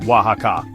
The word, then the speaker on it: Oaxaca: And for those of you wrestling with it, it's pronounced Oaxaca.